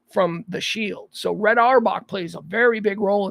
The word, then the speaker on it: Auerbach: life red all Bach said I say it Arbok red hour I've heard it pronounced our back our walk Red Auerbach uh one